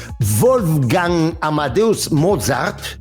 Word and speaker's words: Wolfgang Amadeus Mozart: Amadeus de 1984, que narra la vida de Mozart, de Wolfgang Amadeus Mozart, así es como se pronuncia correctamente su nombre, y que además, pues bueno, a ver, Mozart fue un gran genio de la música.